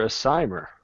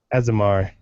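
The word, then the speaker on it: Aasimar: I don't like their aimer or how do you asamar azamar yeah I pronounced that way wrong it's it feels underwhelming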